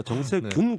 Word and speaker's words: 정세균: 예, 방금 제가 정세현이라고 발음을 했다는데 정세균입니다. 정세균 국무총리입니다.